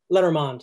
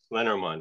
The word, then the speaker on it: Lenormand: Lenormand, it's French, so the accent. Lenormand.